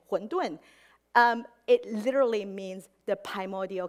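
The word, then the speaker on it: 馄饨: In Mandarin, they also pronounce pretty much the same, huǔndùn.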